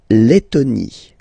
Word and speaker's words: Lettonie: So remember when you've got this E and then a double letter like that, T, T, okay, then you will have to open your E and it will become E, Le, Lettonie.